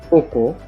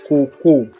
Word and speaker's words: koko: The same spelling, K-O-K-O, but different pronunciations and different meanings.